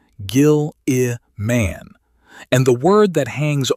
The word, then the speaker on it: Guilliman: Guilliman, with a hard G. Gil-i-man.